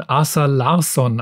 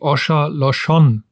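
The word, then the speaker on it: Åsa Larsson: Ich habe einen von Asa Larsson aus Schweden und sie hat mir mal gesagt, sie wird gar nicht so ausgesprochen. Eigentlich heißt sie Osha Loshon, aber sie hat gemeint,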